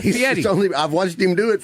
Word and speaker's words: Fieri: Yeah, and they actually videotaped when I was here with Guy Fieri and Carl, Yes. and they How do you say his last name? Fieri.